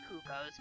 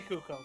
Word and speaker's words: cuckoos: Well, technically it's pronounced cuckoos, but... Yeah, say Kuko, please.